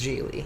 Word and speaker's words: Gigi: In the 1950s, they weren't sure if people could pronounce Gigi. Right. They were a lot more confident in the 2000s. Yes. In people's ability to soften that second G.